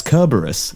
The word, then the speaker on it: Kerberos: I'm actually very impressed because you've pronounced Kerberos correctly. So well, you didn't just there. It's Kerberos. Oh, Kerberos. Yeah. But C's are K.